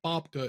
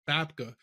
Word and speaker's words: Babka: It's not Babka, it's Babka. So this one you'll have to like give me some latitude on.